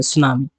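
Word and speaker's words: tsunami: My family टुक, और ये टी हमेशा साइलेंट रहता है, तो इसको ऐसे पढ़ेंगे, सुनामी।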